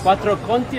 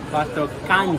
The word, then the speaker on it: Quattro Canti: Quattro Conti or quattro? Quattro Conti. Quattro Canti. Quattro Canti. Piazza Villena. Si dice si pronuncia Villena.